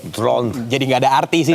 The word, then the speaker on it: Dhroned: Nah, biar nggak standar DRON aja, ejaannya, huruf-hurufnya, ya gue tambahin DHRONED. Drone.